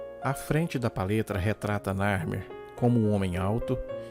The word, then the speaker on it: Narmer: representando foneticamente o nome Narmer. A primeira figura é de um peixe-gato, pronunciado Nar, e o segundo é de um cinzel, pronunciado Mer, em egípcio antigo.